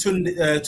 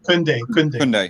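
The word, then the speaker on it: Koundé: With you're comparing Lindelof and Tunde. Is it? Am I pronouncing his name right? Kunde.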